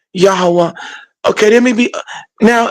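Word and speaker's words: Yahweh: the W pronunciation and when you connect the ha the h you get yaha a yah that's why we say yahwah okay there may be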